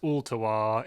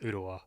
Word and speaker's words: Ooltewah: pronounce ultiwa close yeah it's if you're out of town it's ultawa if you live here the else island it's just uttawa i mean anybody who